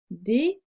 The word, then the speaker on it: déguisé: Le rat vert est déguisé. Le S se prononce Z entre les deux voyelles I et E.